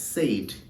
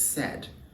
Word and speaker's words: said: So the word said is often mispronounced as said. He said. So it's not said, it's said.